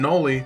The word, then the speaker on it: Noli: And I'm Noli, the K is silent, and this is SCP Weekly.